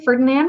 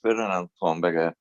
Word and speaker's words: Fernando: have mr ferdinand i'm pronouncing that correctly ferdinand what is your question yes uh my name is fernando i'm a tenant here